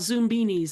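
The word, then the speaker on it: Zoombinis: in the '90s probably in the '90s called Zoom beanies I'm going to spell it because it has been released again as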